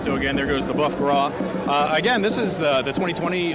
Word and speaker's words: Boeuf Gras: This is the Boeuf Gras. That's it. Did I pronounce that correctly?